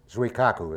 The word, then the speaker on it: Zuikaku: the aircraft carrier surikashuku zuikaku is the way it's pronounced and aircraft from Alexia